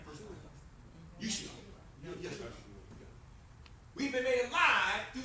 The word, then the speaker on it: Yeshua: Yeshua. We've been made alive through salvation, okay? That's what he did for us. All right, that first term there, Okay, Deacon Lee. You want to do Yeshua salvation?